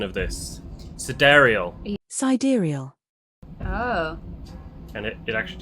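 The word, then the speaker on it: Sidereal: Yeah, cedariel. That's how it's pronounced. Not side rail.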